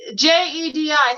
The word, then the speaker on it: Jedi: world what does that say jedi melanie g j e d i how do you pronounce that jedi jedi okay jedi how are